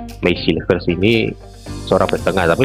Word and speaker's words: Mees Hilgers: Memang terbukti ya Max Hilgers ya, pronunciation Belandanya adalah Max Hilgers ini seorang back tengah, tapi memang kan kualitasnya sih harusnya kalau dinaturalisasi itu lebih baik dari yang ada sebelumnya.